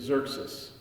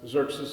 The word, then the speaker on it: Xerxes: name in Hebrew is Xerxes, which I also find ironic because Xerxes is spelled with 2 X's, but there's no X sounds whatsoever in his name, whatsoever.